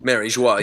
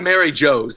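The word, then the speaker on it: Mary Geoise: Mary Joie, but don't call it Mary Joe's.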